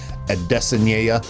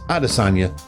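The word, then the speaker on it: Adesanya: fan a destiny hey can somebody please tell brett okamoto that nobody else in the world's pronounced pronounces it a destiny or whatever however the hell he pronounces it just pronounce it like everybody does arasanya okay for christ's sake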